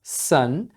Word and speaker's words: son: sun e sun então As duas são pronunciadas sun o primeiro sun é